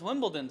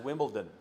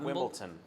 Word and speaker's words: Wimbledon: Because Wimbledon's a fortnight. I do, and it's pronounced Wimbledon, not Wimbledon. It's Wimbledon. My There's a D in it.